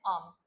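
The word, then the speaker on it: alms: एंड ही was very hungry and इन द एंड नाउ ही was looking for आर्म्स। यह word याद रखना है। आर्म्स L silent होता है।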